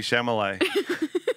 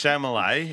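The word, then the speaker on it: Chalamet: real quick okay flashback you called Timothy Timothy what Timothy shamay yeah something's wrong there no that's chamay it's French or you think it's chamlet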